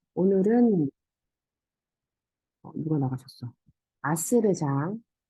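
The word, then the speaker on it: عصر: 이게 아스르. 아인 있고 그다음에 sword. 그래서 아스르. 그래서 sword도 약간 그 굵게 발음해 주셔야 돼요.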